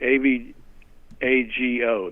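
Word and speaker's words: Avago: that company a vehicle I believe it's called a vago a V they pronounce it okay av AG o that's it a vago technologies and then a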